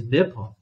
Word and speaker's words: Nippon: I think it's Nippon.